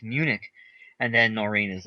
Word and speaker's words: Munich: And I was like, wait, it's Munich.